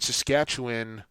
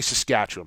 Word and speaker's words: Saskatchewan: an easy and it you don't pronounce it the way it looks and it it's tough